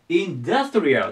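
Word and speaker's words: industrial: 最後ですね最後これちょっとアクセント気をつけますまず行っちゃいましょうここですねアクセントがでインダストリアルと言いますインダストリアルでこれが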